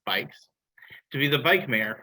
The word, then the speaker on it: BYCS: In addition to being the transit specialist for the city of Alexandria, she was recently selected by Amsterdam-based organization BYCS, which is pronounced bikes, to be the bike mayor for the DC region.